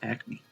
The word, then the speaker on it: Acme: how do you pronounce Acme because what if I'm pronouncing it wrong this whole time the Acme Corporation AC me yeah looks like it's AC me no way how is